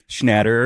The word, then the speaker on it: Schnatter: Schnatter.